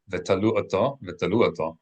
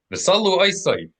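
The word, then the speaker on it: ותלו אותו: Wethalu, or in modern Hebrew, vitalu, vitalu ata. In Ashkenazi, visalu aisai, withalu atha, and they hung him.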